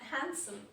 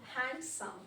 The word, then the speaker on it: handsome: Where the same, it's like handsome, it's Okay. not handsome.